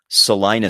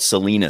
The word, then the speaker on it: Salina: air in this market mispronounce Salina Street and call it Selena street now you know if